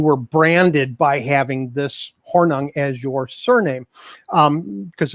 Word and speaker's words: Hornung: it doesn't it's funnier than that it is pronounced hornung um it is it is a name that